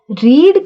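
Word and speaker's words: read: तो अगर मैं प्रेजेंट परफेक्ट की बात करूं तो जैसे इसको देख लो, रीड का जो थर्ड फॉर्म है ना उसको रेड बोलते हैं।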